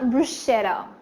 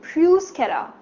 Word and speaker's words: bruschetta: it's called Bruce Cara it's not bruschetta okay it's not your shoutout but it's juice okay okay it's Bruce Cara Tom Cruise so it improves start brews and like the rolling R so it's Bruce okay so it's a